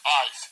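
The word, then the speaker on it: eis: They pronounce it as into. It's 1519. That's ice.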